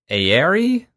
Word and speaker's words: Aire: And the other that did happen is this Ancient Baths trip that you're talking about at Aire? A-I-R-E. It looks like air with a silent E.